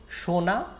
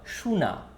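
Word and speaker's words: শোনা: next is listen shona so there are two types of pronunciation for this shona or sunna both are correct shona listen suna listen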